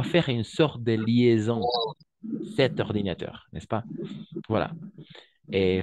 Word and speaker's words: cette: la prononciation en effet cette veste de la même façon alors au niveau de la prononciation on va prononcer de la même façon 7 et 7 dès la même façon la même prononciation 7 7 ordinateur 7